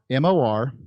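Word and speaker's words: Morazán: M-O-R-A-Z-A-N. Morazan. Not Z-O-N, Z-A-N. Dot city. C-I-T-Y. Morazan.city. And currently there is one housing unit. I was in Morazan City about a week ago, and there was one housing unit.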